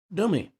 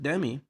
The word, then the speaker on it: Demi: She clarified how her name is pronounced. She said it's Dummy, she corrected.